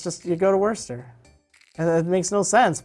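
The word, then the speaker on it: Worcester: c EST er massachusetts so it looks like word sester Worchester wart or something but my family they're you know it's it's werster it's just you go to werster and it makes no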